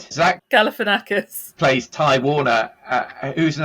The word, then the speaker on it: Galifianakis: In terms of the other stars, there's Zach, complex names here, Zach Galifianakis. Galifianakis. I've never been able to pronounce his name.